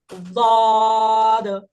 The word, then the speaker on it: ضاد: এই হরফটা যদি আপনি সঠিক উচ্চারণ করতে যান, তাহলে আপনার জিহ্বাকে এরকম ছোট করে নিয়ে হয় এই মাড়িতে লাগাবেন, না হলে এই মাড়িতে লাগাবেন, না হলে একদম দুটোর সাথে একবারে 2 মাড়িতে লাগাবেন।